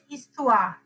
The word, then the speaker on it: histoire: h එක අයින් කරලා I'll read the it is histoire. Okay, les histoires. histoire කියන එකට les කියන එක දාලා les histoires. h එක pronounce කරන්නේ නැහැ.